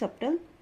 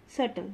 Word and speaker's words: subtle: subtle this is not subtle this is subtle which means very clever crumb plumber not plumber it's plumber tom thumb these are the words where b is silent third is c abscess